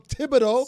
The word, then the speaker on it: Thibodeau: Tom Thibodeau, Supposed not to be Thibodeau.